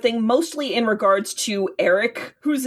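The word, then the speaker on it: Airk: mostly in regards to Eric whose name is spelled A I R K but they just pronounce it Eric which is some white people naming if ever I have heard it.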